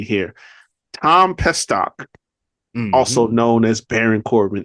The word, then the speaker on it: Pestock: let me say his name correctly here Tom pestock also known as Baron Corbin is officially a